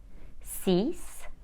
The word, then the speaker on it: six: zero ah do qua cat sang sis set number six is spelled s i x but we pronounce it Sis the number seven is